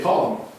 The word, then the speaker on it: Ptolemy: The P is silent. And you say Ptolemy.